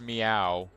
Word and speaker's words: Mio: So it's pronounced meow.